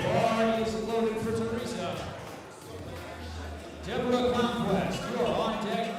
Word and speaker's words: Deborah: That is 3 syllables, Deborah.